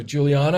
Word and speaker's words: Juliana: can see see us easier all right so Juliana uh am I saying it right am I